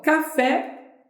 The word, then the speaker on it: café: posso E aí ó café é uma palavra que é oxítona porque café é uma palavra oxítona porque olha mal café Qual é a sílaba mais forte é o pé Oi e aí então